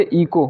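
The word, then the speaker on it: echo: और इस तरह से इको, किसी आवाज़ का गूंजना होता है जिसको इको, यानी ई सी एच ओ।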